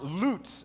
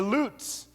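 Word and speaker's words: לץ: a mocker comes from the hebrew word pronounced lutz everyone say loots okay say it better say lutz good okay lutz is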